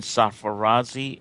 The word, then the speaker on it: Sarfarazi: which is of course and then sapphirazy s-a-r-f-a-r-a-z-i and i think if they just either